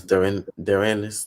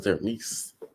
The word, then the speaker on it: Dorena: You know, I did not know that's how you pronounce Dorena's name. I thought it was Derenice.